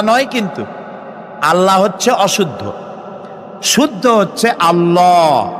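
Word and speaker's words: الله: বলেন তো আল্লাহ নয়। কিন্তু আল্লাহ হচ্ছে অশুদ্ধ।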